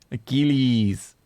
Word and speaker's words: Achilles: you're wrong I was how do you pronounce a keys Achilles Achilles yeah just like keys anything air coolies mega